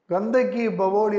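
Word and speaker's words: Gandhak ki Baoli: பிஏ கே கந்தக் ஈ இந்த ஈ ஈ ங்குறது ஐய வந்து நம்ம இன்னு உச்சரிக்கணும் ப்ரொனௌன்ஸ் பண்ணனும் கந்தக் ஈ பவோலி கந்தக் ஈ பவோலி கந்தகி பவோலி அப்படின்னு சொன்னா வெல் அப்படின்னு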